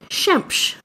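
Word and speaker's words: Xemx: There's Shemsh, which means the sun, which I think is a really... Shemsh. It's spelled X-E-M-X.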